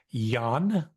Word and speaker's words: Jan: And please forgive me if I refer to it as YAN, sounding as if it were spelled with a Y.